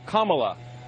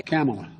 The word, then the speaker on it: Kamala: Her name is pronounced comma, like the punctuation mark la. Kamala. Okay? Kamala.